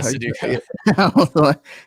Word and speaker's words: Sudoku: Was it Sudoku? Yeah, Sudoku.